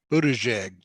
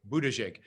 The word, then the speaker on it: Buttigieg: How do you say it? Buttigieg. The first G is a soft G. Okay, Buttigieg.